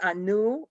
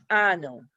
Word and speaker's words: Anno: just depends like anno it's not a new it's ano so that's the name of